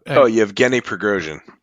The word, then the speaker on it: Yevgeny Prigozhin: How do you pronounce his name? The Russian guy that kind of like went against Putin. Yevgeny Prigozhin.